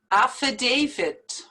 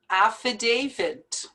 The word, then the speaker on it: affidavit: two r's here juror affidavit affidavit a lot of people pronounce this word with a d at the end but it's a t and you have to pronounce the t affidavit buffet it's just as